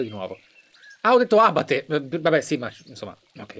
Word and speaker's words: abate: Perché abate ha l'accento sulla prima A, quindi è giusto abate, giusto?